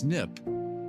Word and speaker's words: SNP: One common type of variation is a SNP, pronounced snip, short for single nucleotide polymorphism.